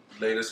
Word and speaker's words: Lagos: Lagos.